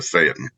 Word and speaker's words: Phaeton: And I said, it's Phaeton, isn't it? It's not pronounced the way that the Greek god is. And he goes, oh no, it's Phaeton. And I called the Peterson Automotive Museum, and they said, it is absolutely a Phaeton.